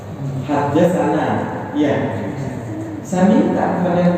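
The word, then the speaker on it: حدثنا: Tulisannya seperti ini: ha, de, sa, nun, dan kemudian ada alif panjang. Bacanya hadasana.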